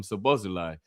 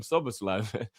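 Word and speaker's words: Szoboszlai: We got to start calling him Suslai. He told us at the beginning how to say his name and everyone still calls him Sabosi.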